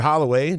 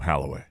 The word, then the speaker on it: Holloway: Izzo should hold open tryouts for anyone on campus named Holloway, just so the announcers have an excuse for getting Trey's name wrong. Yeah, Halloway is what, because I think Jim Jackson keeps calling him Halloway.